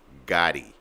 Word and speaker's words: Gotti: that's why I'm pronouncing it like that. MDG Gotti. All right, G-O-T-T-I on Instagram.